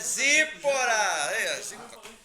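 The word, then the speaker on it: Tzipora: Vende perfume, lá é top, Então quando você vir lá Séfora, você fala Zípora.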